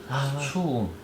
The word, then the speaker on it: 수웅: 아니야, 나수웅이야. 나수웅이고 그 인터넷에 잘못 나온 거고. 네. 그거 저 뭐지? 그저 뉴스 브리핑에 나온 거다. 그 네. 잘못 얘기해. 나수웅이야. 수웅. 그 발음을 잘못 해서 들은 거야.